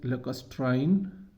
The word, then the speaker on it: lacustrine: The last one and the fifth one is lacustrine plains. Lacustrine plains, इसको ऐसे आपने pronounce करना है। 3 सिलेबाई हैं इसके।